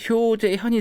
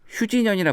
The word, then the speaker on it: 효재현: 원래는 이제 미국에 유학할 때 이제 효재현이 되는데요. 네. 이제 제가 H 사운드가 두 개 있다 보니까 발음을 잘 못하더라고요. 그렇죠. 그래서 많은 분들이 저를 효재현이 아니라 네. 휴진현이라 부르더라고요.